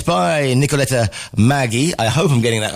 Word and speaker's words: Maggi: Well, in Italian, pronounce it Maggi.